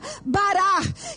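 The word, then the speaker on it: בָּרַךְ: pra tua casa abençoar no hebraico se escreve Barak que se pronuncia barar que no final é com r bem forte essa palavra abençoar ocorre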